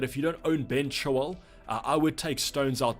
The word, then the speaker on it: Chilwell: And I'm also going to pronounce Ben Chilwell, because apparently I was saying Ben Shaw or something in chat, but I think it's just because I roll the Chilwell.